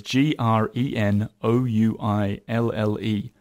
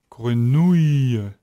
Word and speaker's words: grenouille: So you have to remember you're not going to have any E sound. The E is going to be part of your ya. So it's really the sound ouille, Ouille. Okay. nouille. Grenouille.